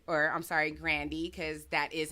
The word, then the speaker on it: Grande: starts this rant and he comes for Ariana Grande or I'm sorry grandi cuz that is how you pronounce her name so we gonna we pronounce